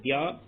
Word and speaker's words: द्या: तो ये दा और या को मिलकर के बना हुआ संयुक्त व्यंजन है द्या, इसलिए द्या ही उच्चारण करना है।